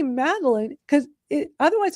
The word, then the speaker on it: Madalyn: that in the dictionary so when I say maline because it otherwise it's going to spell it m a d e l i n e and it's like no that's not how you spell it.